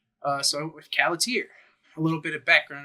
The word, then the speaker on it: Khalatiir: uh the channel you are watching it's named caer that's how you say it uh I've heard different pronunciations of it but it's not a word